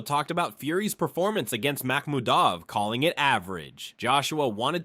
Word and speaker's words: Makhmudov: So for so for Arslan Makhmudov, that's the right way to pronounce it, right?